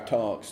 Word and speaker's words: Tunks: directory and he saw this guy Tunks that that that rhyme with drunks.